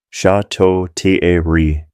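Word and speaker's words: Château-Thierry: Corporal William Henderson from Georgia, 24 years old, died of wounds at Chateau Thierry, pronounced Chateau Thierry, July 7th, 1918.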